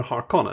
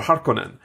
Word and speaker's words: Harkonnen: ] on it is actually cooler than Vladimir Harkonnen or Harkonnen yes do we have a canonical way to pronounce it by the way part conan how